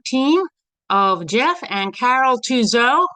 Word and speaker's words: Touzeau: Today we have the WCFA Spotlight on the father-daughter team of Jeff and Carol Tuzo, rhymes with Clouseau.